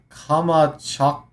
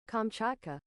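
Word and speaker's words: Kamchatka: There was a large earthquake in the uh Kamachka uh region or peninsula but Kamachka Kamachka actually here. Fair enough. All right. Uh here let's do ye old how pronounce uh is there a play? Oh kamchaka kamchaka.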